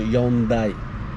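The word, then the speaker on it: Yaoundé: इसके हम कैपिटल की बात करें दोस्तों तो यन दई यन दई प्रोनाउंस होगा क्योंकि यह पोर्तुगीज और स्पेनिश लैंग्वेज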